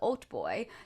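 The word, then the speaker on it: hautboy: the sham became the old boy this is spelled h-a-u-t-b-o-y like halt boy like i want a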